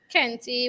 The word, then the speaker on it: kente: about the history of kente weaving did i pronounce that properly yes it's scanty kenti weaving the history of candy weaving is as